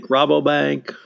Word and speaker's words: Rabobank: the US and I guess do you say Rabobank him am I saying it correctly rapidly Rabobank okay this is a the US unit of